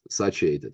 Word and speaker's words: satiated: And protein is the number one macronutrient that keeps us satiated, right?